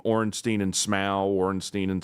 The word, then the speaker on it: Smough: All these bosses, no one knows how to pronounce their name. Ornstein and Smough, Ornstein and Smo.